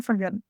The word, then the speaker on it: Viljoen: Now, have I properly pronounced your name, please? Absolutely. Viljoen.